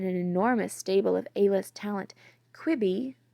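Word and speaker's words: Quibi: stable of ælis talent kwibi rhymes with Libby we learned was supposed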